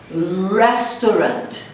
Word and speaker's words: restaurant: Restaurant, restaurant. Rarely, rarely. Rural, rural. Então vamos ver a pronúncia? Ó, rat, restaurant. Então, olha quantas sílabas tem o restaurante em português. Restaurante, 4 sílabas. Em inglês, somente 2.